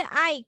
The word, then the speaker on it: Ike: IKE এটা উচ্চারণ কি হবে? এটা হচ্ছে আইক, এটা একটা নাম।